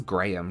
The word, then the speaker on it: graham: I know Americans pronounce that graham cracker, but that says graham to me.